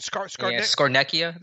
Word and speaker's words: Scarnecchia: How do you pronounce his last name? Scarnecchia.